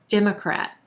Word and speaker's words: Democrat: We've got 3 syllables here, emphasis on that first syllable and the E as in red vowel sound. Democrat. Then we've got a schwa in that second syllable and a very quick third syllable as well. Democrat, Democrat.